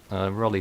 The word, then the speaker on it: Rolly: pronunciation, whether it was Rolly or Rolly, but Rolly sounds more apt, to be honest.